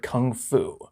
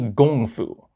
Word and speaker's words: kung fu: K was a G sound, and because of that, Americans proudly know the word kung fu. However, that's actually abysmally incorrect. It's really gong fu.